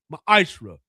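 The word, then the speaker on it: מעשר: In Malachi 3 8-10 means 10th in the Hebrew is pronounced maishra.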